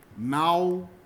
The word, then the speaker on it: Maui: Similarly, Maui is Mau-e, because you only get pairs of vowels.